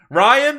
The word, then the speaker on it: Rian: wants you broken Hudson Rian Johnson your name that should be Brian but it's spelled RI a n Dolan